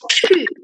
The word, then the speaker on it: 去: for writing, it's a 去. 去. So you can put your hand in front of your mouth. It has a very strong air when you read it.